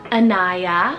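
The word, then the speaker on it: Inaya: actually a Japanese rooted name meaning good change Anaya so i-n-a-y-a Anaya this one's a beautiful Arabic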